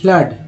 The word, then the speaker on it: flood: उसके बाद फ्लड बोलते हैं FLOOD, फ्लड में डबल ओ का उच्चारण क्या पढ़ा गया है, तो अ, फ्लड।